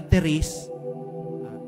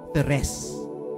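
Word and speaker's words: Thérèse: nung ako discs carmelite Yung french pronunciation sa halip na Teres ni-retain Yung french na thess yun of the child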